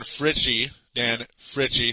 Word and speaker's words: Fritchie: Dan Fritchie, that's how you say his name. Finally, I know how to say it.